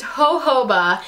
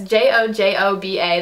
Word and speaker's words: jojoba: this is called the I believe it's pronounced jojoba. If I am wrong, I am so sorry, but it's that word that's J-O-J-O-B-A that I never know how to pronounce, but I think it's jojoba.